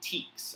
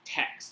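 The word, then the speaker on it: TEKS: get them from the teaks or text depending on how you pronounce it and i gave you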